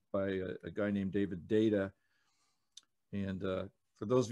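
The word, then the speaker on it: Deida: a guy named david data and uh for those of you who haven't heard of david his name is spelled d-e-i-d-a but it's pronounced data and what i learned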